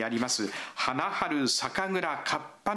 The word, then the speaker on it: 花春: 看板について読み方はハナハル咲か蔵南ですが